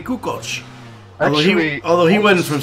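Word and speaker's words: Kukoč: it's just like uh like Tony kach was he wasn't Tony kukak he was Tony kuko although although he wasn't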